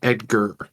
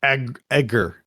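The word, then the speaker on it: Egar: And it's the best part of it is it's spelled E G A R. It's not Edgar. No, Edgar.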